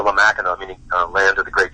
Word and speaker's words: Mackinac: And just for readers, or just for listeners who aren't familiar with the spelling and pronunciation, it's spelled with an AC but pronounced AW, right?